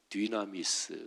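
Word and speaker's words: δύναμις: 다이너마이트 이런 단어가 나왔습니다 권능을 헬라어로 뒤나 미스 라고 발음하는 데 여기에서 다이너마이트 이 단어가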